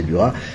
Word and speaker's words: Duras: Et Marie-Bénédicte Dithelme est une spécialiste de Claire de Duras, ou de Duras, il paraît qu'il faut prononcer Duras.